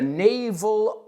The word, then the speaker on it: naval: N-A-V-A-L en vez de E-L. La cuestión es, ¿esa A-L se pronuncia igual que esa E-L? Pues sí. En este caso, sí. So, he was a naval officer, ¿no?